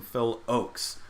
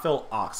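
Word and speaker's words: Phil Ochs: Anderson listening to some Phil Oaks see I read the comments per I had my pronunciation wrong as I often do Phil Oaks not Phil Ox I think I said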